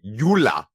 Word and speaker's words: Yulia: It's Yulia, but technically it's actually like Yula. It's not even spelt like Yulia. I don't know.